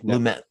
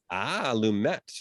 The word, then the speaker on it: Lumet: Lumet, the director of Lumet. He does pronounce the T. Lumet.